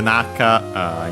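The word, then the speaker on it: 仲: The Naka, in this case, Naka, by the way, accent on the first syllable in both cases.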